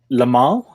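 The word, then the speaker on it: Limahl: Lamal? Is that how you pronounce it?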